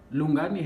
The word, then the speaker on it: Lungani: So Lungani has like three syllables, which is lu, nga, ni.